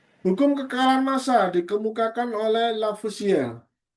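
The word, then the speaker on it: Lavoisier: Ini ada yang baca Lusier, Lafus ya terserah misalkan nama orang Prancis ya. Yang penting tulisannya adalah ini gitu ya. Kalau e kalau saya sendiri bacanya karena biar lebih mudah lafar ya gitu ya sesuai dengan tulisannya ya. Tapi katanya seharusnya kalau dalam bahasa Prancis lafus kalau bacanya ya.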